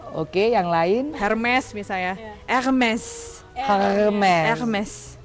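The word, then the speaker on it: Hermès: Hermes. Kamu kan udah belajar bahasa ini, jadi R-nya itu R-nya harus di sini. Hermes. H tidak pernah diucapkan.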